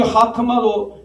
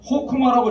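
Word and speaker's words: חכמה: 여기 하크마도 제가 왜냐하면 호크마라고 이 호크마는 뭐냐? 영어 발음이 영어 발음. 근데 하란 말이에요. 모음은. 그러면 안 되는 거죠. 그게 뭐 성경에 뭐 쫙 깔렸어요. 아주 영어 발음으로 저기 하는 게 하잖아요. 깨무트 아잖아요. 아. 그래서 하크마 가래 끓는 목소리로 해가지고 하크마 그 자는요 사실 무음이에요.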